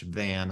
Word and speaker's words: Van: like that you said it's van like the car and haas like the avocado it tickled me so